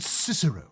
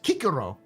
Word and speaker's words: Cicero: Cicero is a lot less serious when you pronounce his name in actual Latin. His name isn't Cicero. It sounds like very, regal. Almost noble. But when you pronounce it in actual Latin, which is Cicero, he sounds like a tiny little child.